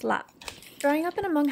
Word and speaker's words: laab: This dish is pronounced laap.